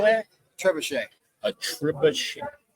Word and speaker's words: trebuchet: Yeah, a tree bucket. What do they call that? Trebuchet. A trebuchet. Spelled like a tree bucket.